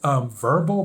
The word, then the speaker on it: Vurbl: It's called Verbal, but it's spelled like VURBL.